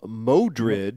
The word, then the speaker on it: Mordred: He's running into they call him Modred, which is one of the different pronunciations of Mordred, and who is the main bad guy in the Arthur story.